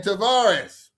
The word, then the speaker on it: Tavares: That's how you say his name, Tavares.